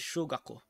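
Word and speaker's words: 小学校: And how you pronounce that is shogakko. Or shogakko. Not shu. A sho, shogakko.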